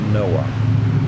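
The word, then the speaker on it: NOAA: that acronym i mean it doesn't spell noah like the biblical noah but it's still pronounced noah right make of that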